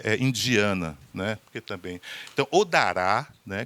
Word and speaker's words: Odara: Porque também, então, Odará, né, que seria mais ou menos a pronúncia mais próxima é esse entendimento afrocentrado de estética na arte.